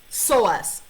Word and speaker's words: psoas: It's called psoas. It's pronounced psoas. P-S-O-A-S.